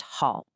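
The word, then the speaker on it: 好: It's pronounced hall and it means good.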